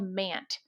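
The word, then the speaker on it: MANDT: In our inaugural episode, we're going to start out with a recent training I took from a company called MANT. That's spelled M-A-N-D-T.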